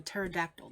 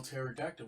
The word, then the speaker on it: pterodactyl: another video of a pterodactyl they caught that you can't spell pterodactyl without actile without terror without the silent p even when she's